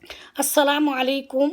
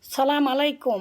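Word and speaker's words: السلام عليكم: প্রথমে আসি আমরা সালামের উচ্চারণ নিয়ে। আসসালামু আলাইকুম ওয়া রাহমাতুল্লাহি ওয়া বারাকাতুহু।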